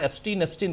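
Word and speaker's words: Epstein: है कि Jeffrey एप्स्टीन, हालांकि मिस्टर एप्स्टाइन कह रहे थे वो, ओरिजिनली नाम उच्चारण भी एप्स्टाइन ही करना चाहिए, लेकिन चूंकि अपने यहां एप्स्टीन कहा जा रहा है तो मैं भी वही कह रहा हूं।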